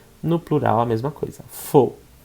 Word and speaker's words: faux: Faux. Faux. A-U-X, O. Faux. Falso. Aqui o falso, né? A gente fala fos. Fos.